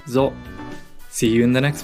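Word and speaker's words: ぞ: So with the Dakten is pronounced zo.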